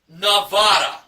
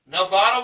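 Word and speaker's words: Navada: Okay, the third contestant was Nevada, not Nevada, the state. So just replace the E in Nevada with an A.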